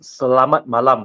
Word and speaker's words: Selamat Malam: This is actually pronounced Selamat Malam.